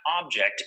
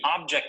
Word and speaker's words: object: look at the verb the correct pronunciation of this word is object notice that the stress is on the second syllable object object this verb